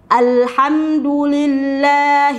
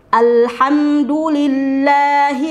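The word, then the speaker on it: الحمد لله: dengan huruf hamzah ya padahal berbeda antara a dengan a a huruf hamzah dengan Ain itu berbeda jadi dibaca Alhamdulillah saya ulangi sekali lagi Alhamdulillah jadi perhatikan pada huruf H dan h kemudian di ayat ketiga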